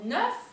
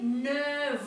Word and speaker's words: neuf: Entonces, cuando decimos neuf, se pronuncia como una F. Pero cuando está en contacto con la palabra años, se va a decir neuf ans. Neuf ans. Oui, se está pronunciando como una V corta.